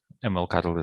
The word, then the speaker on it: MLCTL: you spell this uh it's spelled mlctl and ml cuddle i think it's oh i didn't know